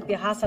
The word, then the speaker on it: pirraça: Que eu não te chamei aqui pra fazer pirraça não, que eu tô muito além desse... Pirraça, aqui um R forte, porque são dois R's, tá?